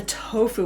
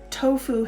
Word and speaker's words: tofu: And I never think about tofu and did you see my pronunciation? Tofu. Because I'm speaking English, I call it tofu, not tofu, right? Because that's speaking Japanese.